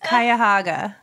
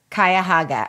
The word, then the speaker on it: Cuyahoga: budget it's Cuyahoga McCoy rhymes with guy and then hog like a pig I hope that makes sense Cuyahoga Cuyahoga okay yes I knew